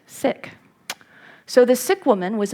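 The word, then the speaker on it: Sikh: sick woman and I it's an SI i k woman we may have thought of that as seek um but I've recently learned after my parliament of world religions trip that is actually correctly pronounced sick so the sick woman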